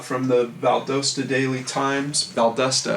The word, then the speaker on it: Valdosta: Valdusta I think is the way that it's actually pronounced.